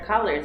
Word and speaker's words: collar: So this is one where the Portuguese Yes. pronunciation Not is color, right? Yeah. So for example, red, blue, yellow are colors. Colors. And this is a collar. Collar. It's different. It's difficult. Ka and ka.